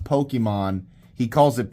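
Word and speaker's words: Pokémon: This is how your dad says Pokemon, even though he knows good and well it's pronounced Pokemon. He calls it Pokimane.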